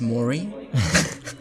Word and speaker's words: Māori: It's pronounced Maury.